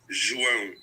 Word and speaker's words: João: My name is pronounced João. Joao.